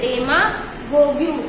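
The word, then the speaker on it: demagogue: यहाँ पे E last का जो है वो साइलेंट है, लेकिन लिखा जाएगा।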